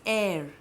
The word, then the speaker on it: heir: So, just be careful about H, because when H is silent, like for example, when we say air. Rani Lakshmi Bai did not have an heir to the throne. So, H is not pronounced. This is pronounced as air.